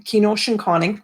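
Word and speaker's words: Gnoozhekaaning: I come from Kenoshinconning. That's how you pronounce it in my language.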